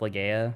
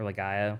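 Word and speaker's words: Legaia: old PlayStation one game called um Legend of Lea or Legaya, whichever, however you want to pronounce it.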